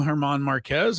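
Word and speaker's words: Germán Márquez: Yeah, I went with the Drew Goodman pronunciation as a Rockies broadcaster. He said Marquez. I always call him Herman Marquez.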